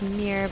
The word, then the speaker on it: Mir: i just hate pages the dragon's name is pronounced mirror but in my head i always say myrrh because it sounds funny